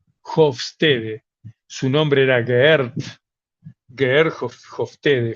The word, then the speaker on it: Hofstede: culturas nacionales que estudió un señor llamado Hofstede, se escribe Hofstede, Hofstede.